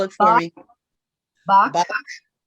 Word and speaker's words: Bach: Bach, Bach. Bach, like the musician, Okay.